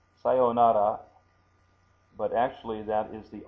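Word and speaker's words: さようなら: You say sayonara. Sayonara. So you say sa, then you go yo, long O, and then nara. Nara. Sayonara. Now, this is sa, this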